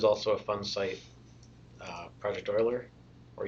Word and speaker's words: Euler: a fun site project Euler or Euler the correct pronunciation does not match the way it's spelled but it just gives